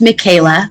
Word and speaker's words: Michaelah: thank you claudine and my name is pronounced michaela but that is okay